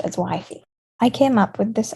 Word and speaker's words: WFY: remember this group is by memorizing the acronym wifey which is wfy and pronounced as wifey i came up with this acronym and i